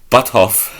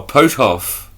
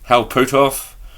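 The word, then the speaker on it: Puthoff: Alright, it's pronounced P. It's spelled P-U-T H-O-F-F. What am I saying? Butthoff. Oh, Potoff. No. I thought it said Butthoff. No. Hal Potoff to research UFO topics.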